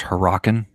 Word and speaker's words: Hurricane: they call it hurricane mm-hmm actually Jim it's pronounced her rockin get it from bottom we really like to